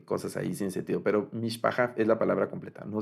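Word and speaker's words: משפחה: Eso lo estoy diciendo cosas ahí sin sentido, pero mishpaha es la palabra completa, no se declina. Entonces tenemos el acento va al final, y aquí está partida la palabra en las 3 sílabas que contiene.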